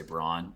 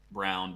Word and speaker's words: Braun: actually think it's pronounced brown even though like everything in your brain is telling you to say brawn i've i've made this